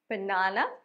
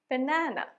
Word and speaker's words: banana: এরপর কলা, ব্রিটিশরা এটাকে উচ্চারণ করে বানানা, আমেরিকানরা বানানা। দেখেন দুইটা উচ্চারণেই মাঝের যে এন এটা আছে সেটাতে জোর পড়ছে।